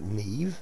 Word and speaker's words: Niamh: a nice big base uh with our character Neve uh spelled name but it's pronounced Neve so thanks for that Buttercup um yeah we're